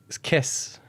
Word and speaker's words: caisse: The second one is caisse. Caisse. Can you spell it?